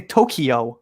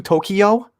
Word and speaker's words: Tokyo: tokyo so americans say tokyo like did you ever go to tokyo and it's tokyo it's two syllables not three right so you know